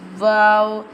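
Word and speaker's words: واو: Wow pronounced from the empty space of the mouth, like this. Wow.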